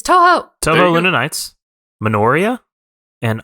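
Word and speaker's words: Touhou: Toho? I don't know how to pronounce it. It's Toho.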